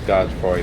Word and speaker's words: Godfrey: It's Godfrey the Grafted. You don't pronounce the E.